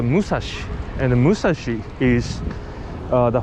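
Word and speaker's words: 武蔵: 634 meter is uh we call the six in japan like roku and three like me oh no and therefore like she so once you pronounce it in japan in japanese language uh it's called the musashi and the musashi is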